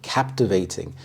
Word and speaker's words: captivating: ideas absolutely intriguing captivating captivating the stress is on the first syllable captivating this means holding your